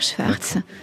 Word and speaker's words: Szwarc: dis Schwarz on dit Schwarz il faut dire Schwarz je vous explique pourquoi parce que ça s'écrit comme ça se prononce s Z en fait c'est l'orthographe polonaise de Schwarz on est en mondidich